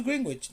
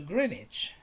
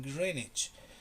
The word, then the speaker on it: Greenwich: "No, no, I want to go to Greenwich." "No, there's no Greenwich here. Maybe you want to go to Greenwich."